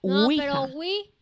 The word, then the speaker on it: ouija: no con w no se escribe o ouija se pronuncia una wii qué bueno que no